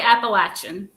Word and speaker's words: Appalachian: but like you said if you're from the north or the south you're going to say it totally different somebody's both so wherever you live that's how you say it how do you say it i say appalachian legend so where are